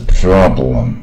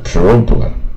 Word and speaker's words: problem: 那问题呢是 problem。啊，看到 o 呢，有人可能会念成 problem。